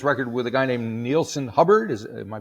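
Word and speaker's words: Neilson Hubbard: you made this record with a guy named neelon hubard is am I pronouncing his name correctly you are indeed tell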